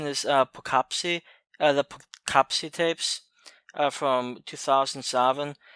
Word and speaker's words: Poughkeepsie: movie somewhat one own and I believe the pronunciation is perkupp see the CAPTCHA tips from 2007 so the guy